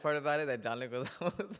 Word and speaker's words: Leguizamo: of like, so you had John I can Leguizamo? never say his name, bro. Leguizamo.